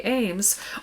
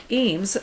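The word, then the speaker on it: Eames: know the furniture of charles and ray ames or eems sometimes you'll hear it pronounced they also use this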